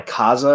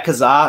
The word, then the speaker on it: Kazaa: And as I got older, I was on Kaza or Napster or something, and I downloaded this some Pride video. Wait, real quick. Do you mean Kazaa? Yeah, Kazaa. Oh, is that how you say it?